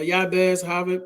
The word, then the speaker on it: Jabez: at the story of Jabez or yabez you know many people pronounce it I like to pronounce the J some people don't like